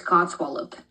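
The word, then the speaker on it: codswallop: Um I would call it a I would pronounce it as CW swallop and you would be correct. So it's cod swallop.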